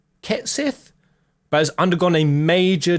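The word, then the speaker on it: Cait Sith: Wait, Kate Sith seems to be pronounced Ket Sith, but has undergone a major design overhaul.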